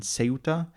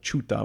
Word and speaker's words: Ceuta: too, is then in Ceuta. Ceuta. am I am I'm for sure Ceuta. I'm I'm my head is like Chuta, which is the Italian pronunciation, which is not the remotely Spanish pronunciation, but it's the Spanish